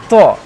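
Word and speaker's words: ط: Tho, this will be pronounced tho. Some people say it do, do. That is wrong.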